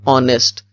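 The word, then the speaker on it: honest: but this is silent इसी तरह ऑनेस्ट इसमें भी पहला वर्ड जो है वह कंसोनेंट है बट दिस इज साइलेंट यानी यह साउंड जो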